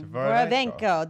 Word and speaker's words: Dvorovenko: Dvorovenko.